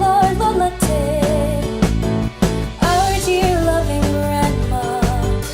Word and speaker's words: Lola Te: Stop it! Call me Lola Te! Short for!